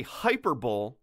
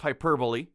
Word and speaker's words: hyperbole: first complaint is that the narrator does say hyperbole instead of hyperbole yeah that's rough rough